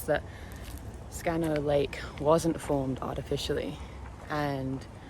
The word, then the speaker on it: Scanno: place called scano and it's important in Italian that you pronounce both of the ends unlike an English we would say scan like quickly if you want to sound Italian you've got to make sure you pronounce each one of the double letters separately anyway so the legend